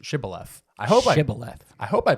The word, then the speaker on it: Shibboleth: I believe it's pronounced Shibboleth.